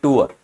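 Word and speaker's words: tour: हां वो ट्रिप जो होती है वो फिक्स नहीं कहलाएगी। और जो टूअर होता है इसकी एक्चुअल प्रोनाउंसिएशन होती है टूअर। टी ओ यू आर टूर नहीं बोलते।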